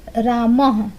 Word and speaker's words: रामः: ठीक है, विसर्ग का उच्चारण किसकी तरह होता है, तो विसर्ग का जो उच्चारण है वो ह की तरह होता है। जैसे रामः, राम के बाद जैसे 2 गो ये बिंदी लगा रहेगा तो उसको ह पढ़ा जाता है। ठीक है, रामः, तो ह उच्चारण आता है।